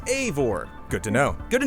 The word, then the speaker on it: Eivor: Eivor is pronounced Eivor. It's not Ivor. It's Eivor.